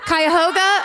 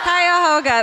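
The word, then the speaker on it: Cuyahoga: Kyhoga. Kyhoga. That's like that. Anyone? Wait. The Kyhoga River.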